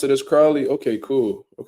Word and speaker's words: Crowley: news man is it is it Cody Crowley or Cody Crawley let me see real quick it's Cody Crowley I was saying his name wrong the entire time that's just crazy that's